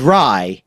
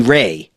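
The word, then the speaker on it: Rai: It is what I called Rye Zero. Just today I learned that I was saying it wrong the whole time. It's supposedly Ray.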